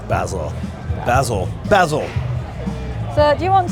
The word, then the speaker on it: Basil: Americans say Basil. Basil. But English we say Basil.